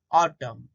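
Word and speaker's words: autumn: देखो यहाँ एग्जाम्पल दिए हैं, देखो कोलम, डैम, सोलम, ऑटम। तो इसमें आखिर में एन है लेकिन वो साइलेंट हो जाता है।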